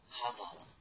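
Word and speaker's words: Hvala: Mas muitas pessoas falariam assim: Havala. Havala. É tipo um som de dois R's. É muito difícil falar isso. Nem eu consigo falar a fonética exalta. Mas o som é tipo esse. Havala.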